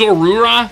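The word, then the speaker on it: Zorua: Okay, I know it's pronounced Zorura.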